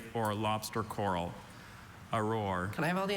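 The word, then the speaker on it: aurore: Auror. Auror. That's the only pronunciation, right?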